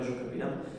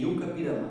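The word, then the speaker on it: I-Juca-Pirama: Alguém já ouviu falar nesse nesse texto, nesse poema Juca Pirama. Na verdade a pronúncia correta, pelo que eu sei, é Yu Capirama, porque é do Tupi, né?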